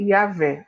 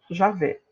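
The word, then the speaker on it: Yahweh: o tetragrama sagrado e cuja pronúncia é yaveh ou já vê entretanto o o respeito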